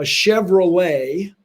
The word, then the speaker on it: Chevrolet: because you've seen both a chevrolet which has a t on the end which you don't say and a corvette which